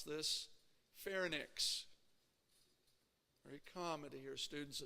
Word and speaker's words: pharynx: want to pronounce right pharynx notice it's not nyx it's not nix it's inks right pharynx everybody say it once